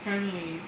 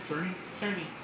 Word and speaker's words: Cerny: Currently, I can't pronounce his last name. How do you say it? Cerny.